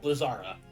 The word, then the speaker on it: Blizzara: And that's not, because if you look how it's spelled, it's Blizzard Ra. There's no D. Yeah, there's no D sound. In Blizzara, or Blizzardga.